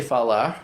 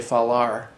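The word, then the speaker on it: falar: Um, like I say falah because that's the right way to say it. But someone from S. Paulo will very often say far.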